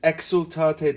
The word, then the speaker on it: Exultate: And then we want to pucker the lips on the xul, exultate Deo. Accent de, round the lips on o, and strictly observe the eighth note that's tied.